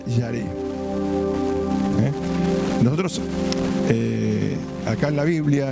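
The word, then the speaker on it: ירא: es una palabra que en hebreo significa yarece pronuncia yaré nosotros acá en la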